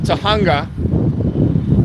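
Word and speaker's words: Tujunga: Way, just west of Tahunga, spelled with a J, for those of you that are not inclined on Espanol.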